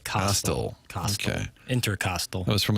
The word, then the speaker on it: costal: Coastal, pronounced like Costco. It is a rib. A lot of medical folks. Yeah, like Costal.